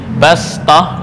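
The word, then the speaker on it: بَسْطَةً: Bastah di sini ditulis dengan sad. Ya, tapi cara membacanya adalah sin lebih utama.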